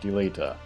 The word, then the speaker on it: Delita: and they are agrius delita delita i need to say his name correctly deleta and then mustadio and